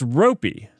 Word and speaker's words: ropey: is it pronounced I don't know how to pronounce that oh it's it's ropey it's ropey it's Ry okay Ry the dictionary just says